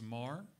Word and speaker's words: Meagher: It's Marr, spelled L-I-A-M, M-E-A-G-H-E-R, but pronounced Marr. It's Gaelic and pretentious.